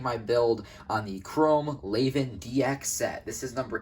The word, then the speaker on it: Levan: main beadamon chrome laven has multiple different pronunciations the correct spelling is spelled chrome laven l-e-v-a-n however in the english dub they call it chrome raven which is definitely a better name for it considering that the beam